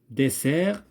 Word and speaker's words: dessert: Désert, j'entends Z. Dessert, j'entends pas Z.